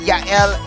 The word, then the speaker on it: Yael: It rhymes. Yael with ML.